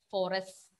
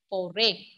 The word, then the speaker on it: forêt: Even when we pronounce, that S is not there. We are not pronouncing forest. No. Foray. Just repeat.